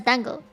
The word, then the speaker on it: dango: It's the It's the Japanese dessert, you know, the the three mochi balls on the stick. That's dango, right? But in Cantonese, if you say it properly and say tango, that means cake. So, you know, very different words that end up sounding the same to someone who is monolingual.